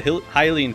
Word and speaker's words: Hylian: We rescued the Hylian captain. Turns out it's actually pronounced Hylian, not Hylian.